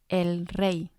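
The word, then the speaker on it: rey: El Re El re in singular form the Y sounds like the letter i when it's at the end when we make it plural it will sound a lot like the English Y El re turns into Los Rees Los Rees so we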